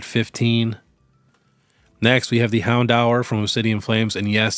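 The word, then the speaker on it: Houndour: of them at 15 next we have the Hound hour from obsidian flames and yes that is how you pronounce Hound hour this was $328 couple months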